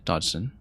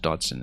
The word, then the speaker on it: Dodgson: Charles Dodgson I should say Dodson has a G in it but is pronounced Dodson as I recall.